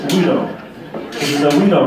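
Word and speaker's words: güiro: In English, we would call this a gyro, G-U-I-R-O. But on the Weedlegrass page, it says pronounced W-E-E-D-O, which is kind of the best way for a gringo to pronounce this weedle.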